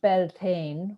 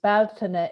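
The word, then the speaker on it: Bealtaine: We have 3 festivals here in Ireland that are taken from the Irish language, which is, ye pronounce it Beltane, which is Baltana in Ireland, which is the month of May.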